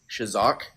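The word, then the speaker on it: חזק: The R word in Hebrew is shazak, which is spelled CHAZAQ. And that word is used real quick.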